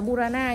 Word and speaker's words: Burana: Burana các bác đọc đúng cho em là Burana nhá.